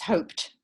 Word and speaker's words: hoped: think where in fact if you say hope it ends with a p right which is a voiceless sound so it's hoped right so again this